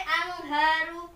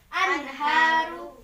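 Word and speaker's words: أنهار: Jadi nggak boleh angharu, nggak boleh. Atau anharu, nggak boleh. Jadi bacanya harus anharu, jelas.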